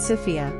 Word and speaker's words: Sofia: The capital city is Sophia, but they pronounce it Sophia with stress on the O.